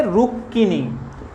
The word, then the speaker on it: রুক্মিণী: এর উচ্চারণ কিন্তু রুক্মিণী নয়। সংস্কৃতর ক্ষেত্রে এইগুলোর উচ্চারণ আছে, রুক্মিণী হবে সংস্কৃতর ক্ষেত্রে, কিন্তু এইখানে বাংলাতে এর উচ্চারণ কি হবে? রুক্মিণী। বাংলাতে এর উচ্চারণ হচ্ছে রুক্মিণী।